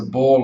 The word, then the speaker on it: Bohr: don't understand what we now know as the Bohr law or the Bohr effect, Buteyko's method doesn't make sense in a way.